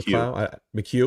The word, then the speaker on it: McHugh: Grayson McHugh? Like Sean McHugh.